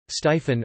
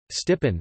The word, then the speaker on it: Stephen: Stephen, Stephen in Stevens, Stevenson equals I, Stiphen or I, Stippen. The ph digraph has an f sound rather than a v, even in standard Philippine English.